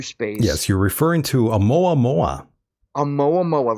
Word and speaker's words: Oumuamua: Yes, you're referring to Oumuamua. Oumuamua, right. I couldn't pronounce the name.